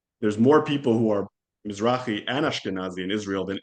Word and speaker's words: Mizrahi: Mizrahi.